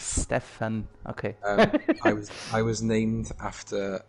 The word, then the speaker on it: Stefan: because your name is just exactly the same way in my native language in german and it's spelled right right that way so how is it pronounced properly so my name is pronounced stefan you actually pronounced the